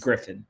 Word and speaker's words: Gryphon: Griffin. Oh, wait, are you sure it's not Gryphon? Positive. Wait, why is it Griffin? It's not spelled like Griffin, let me tell you that. PH makes an F sound.